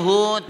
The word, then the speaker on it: Hood: Hud-nya kan H O D bukan Hut. Bukan H. Hud. Lu jangan sok ngajar-ngajarin gue. H O D. Enggak. Tapi kan dibacanya Hud. Iya bacanya Hud.